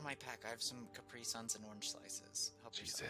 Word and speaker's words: Capri Sun: I have some Capri Suns and orange slices.